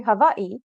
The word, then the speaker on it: Hawaii: I grew up in Hawaii, and it's not Hawaii, it's actually Hawaii.